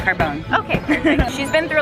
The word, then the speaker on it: Carbone: So how do you say your last name? Because I tried to say it earlier. Carbone. No, it's Carbone.